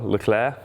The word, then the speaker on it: Leclerc: Charles Leclerc, or Charles Leclerc, as it's supposed to be pronounced, I think.